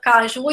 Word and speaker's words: caju: aí bússola Império plateia Caju e Panamá né Se a gente for parar para perceber a palavra Caju gente não recebem acento É uma oxítona vai para assim o